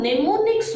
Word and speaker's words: mnemonics: Now, what happened in the assembly language was some mnemonics were developed. Check the spelling. Mnemonics. Here M is silent.